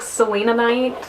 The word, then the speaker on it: Selenite: That's like Selenite. Like, obviously no, it's not Selena Gomez.